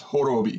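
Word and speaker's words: Horobi: like gin is hordeum horribie son I keep mispronouncing his name it's it's horrible be not whatever the I said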